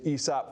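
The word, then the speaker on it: Aesop: education gap and um bring the truly good esop candidates out so that um so that they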